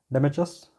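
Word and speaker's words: Deimachus: देखो जो ये, इसको कैसे प्रोनाउंस करते हैं, डेमेचस, है ना।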